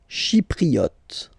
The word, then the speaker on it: Chypriote: Chypriote. Remember this Y is pronounced like I, okay?